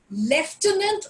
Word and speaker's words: lieutenant: Lieutenant or lieutenant again both are correct.